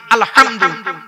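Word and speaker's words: الحمد: আলহামদু এই গলার ভেতর থেকে হেটা উচ্চারণ করবেন, বাপেরা হাতে ধরে বলে যাচ্ছি।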